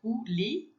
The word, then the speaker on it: coulis: E coulis, né? Que é esse OU, tem som de U, então é coulis, e a gente não pronuncia o S no final, lembra?